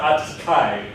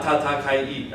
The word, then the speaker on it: 暖かい: So I'm not going to say, English people often when they're pronouncing it, they're going to say, atsukai,じゃないんです。It's like, it's not atsukai, it's ta-ta. This ta is the same ta in every single position in Japanese.